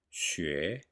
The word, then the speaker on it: 学: 同同 In 学, the S sound is pronounced with the dorsum of the tongue. 学学 Repeat after me.